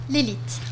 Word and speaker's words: Lelit: de Jura et de l'Elite, ou Leli, comment on le prononce? L'Elite. L'Elite? Oui, OK, ça parfait. vient de l'Elettroapparato Italiano. Ah, OK, parfait.